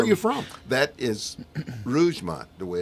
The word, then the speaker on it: Rougemont: That is Rougemont, the way it's pronounced, North Carolina.